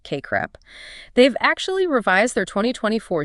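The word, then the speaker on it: CACREP: The Council for Accredititation of Counseling and Related Educational Programs or KREP pronounced KR CREP.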